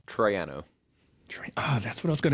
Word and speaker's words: Troiano: you say your last name very good it's Triano that's what I was going to guess too